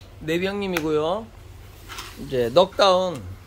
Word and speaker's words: 넉다운: 이제 넉다운. 예. 넉은 K는 묵음이다. 묵음. 예? 왜 N이 아닌가요? 이렇게 묵음이에요. 묵음.